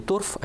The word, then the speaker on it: торфа: галька пишу глина неважно они называют торфа не торф а именно торфа с ударением на последний слог затем когда доходит до